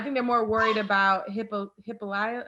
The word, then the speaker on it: Hippolyta: I think they're more worried about Hippolyta.